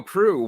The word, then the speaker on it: Proulx: Yeah, and I so should have asked him how to say his last name, but You mean Proulx? there you go, Proulx, Warren Proul Jr., ladies.